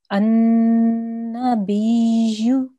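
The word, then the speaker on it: ٱلنَّبِيُّ: So we need to make a ya sound at the end, very, very lightly.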